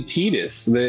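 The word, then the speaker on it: Tidus: Is uh these three packs Titus a character? Yep. Yep. Yep. He's one of the precon commanders. Oh, nice. Say it. Actually, Tetus. When they say his name in the game, it's Tetus or something.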